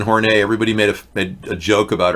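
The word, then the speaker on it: Horney: according to Catherine kornei it was not pronounced horny okay her name was Catherine horn hey everybody made a joke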